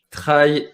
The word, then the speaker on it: trail: bon sens avec vous pourquoi prononce tu trahis et non 13 comme en france est moins d'anglais ah